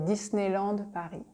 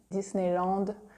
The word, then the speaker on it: Disneyland: we say Disney Disney we say Disneyland Disneyland by here it's like super French - there's no attempt of making it English at all Disneyland and I think if